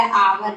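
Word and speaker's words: hour: और इसी तरह आवर भी होता है, जो आवर में भी एन लगाते हैं। इसी तरह एयर होता है, एयर में भी एन लगाते हैं, क्योंकि इनका फर्स्ट लेटर ये जो है साइलेंट होता है, या जो भी कुछ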